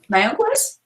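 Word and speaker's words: Mayagüez: You may have to help me pronounce this, Goñi. Mayaguez? Mayaguez?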